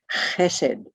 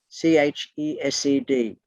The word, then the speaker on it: Chesed: From Gevurah, we travel across this line here to this particular circle, and that circle is called Chesed, C-H-E-S-E-D.